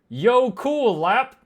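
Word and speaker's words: jökulhlaup: hop wait Jackle hop Jackle hop hold on I can't I don't know how to make an o with dots Define Jackle hop a Jackle hop which is pronounced Yo cool lap is a sudden and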